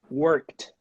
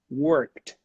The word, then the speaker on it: worked: sound no voice no vibration so you should pronounce it as a tea worked repeat let's go worked worked excellent number five the word call o